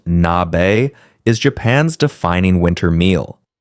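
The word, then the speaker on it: 鍋: Today, nabe, pronounced nabe, is Japan's defining winter meal.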